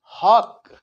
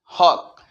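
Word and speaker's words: hawk: ए डब्लू के हक ये नहीं बोलेंगे एच ए डब्लू के हॉक यह बोलना है हॉक दोस्तों अगर यह सच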